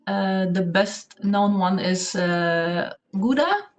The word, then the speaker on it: Gouda: The best known one is Gouda, or Gouda, pronounced in Dutch.